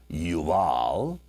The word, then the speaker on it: Jubal: His brother's name was Jubal. It would actually be pronounced in Hebrew, Yabal, Yuval.